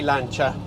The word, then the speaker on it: Lancia: made by pin Farina I'm not going to apologize for the Italian pronunciation I am Italian so throughout this video I will say lancha flaminia and so on so pin Farina is